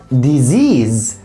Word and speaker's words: disease: يعني كلمة زي دي بقول disease. disease كلها زيز زيز.